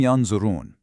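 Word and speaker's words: ينظرون: You don't say "yanzurun" clearly, but you don't swallow it entirely either. Your tongue just kind of hovers preparing for that heavy "dha".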